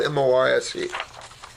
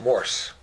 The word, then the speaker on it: Morse: Call in, make an appointment if you want, or get on our 14-week protocol, or I'll write you one, and it's spelled M-O-R-S-E. Not Morse.